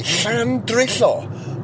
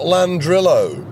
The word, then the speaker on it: Llandrillo: First of all, the astonishing thing was that it used the Welsh name, and second of all, it pronounced it in the Welsh way, Llandrillo, not Landrillo.